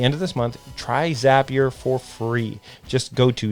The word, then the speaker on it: Zapier: Zapier rhymes with happier, and it makes my work life happier, and it'll do the same for you.